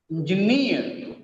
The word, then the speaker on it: engineer: The stress is on last syllable here, guarantee, kangaroo, kangaroo, bamboo, engineer, engineer, Japanese, Japanese, picturesque, picturesque, cigarette, balloon, balloon. In all these examples, the last syllable is stressed.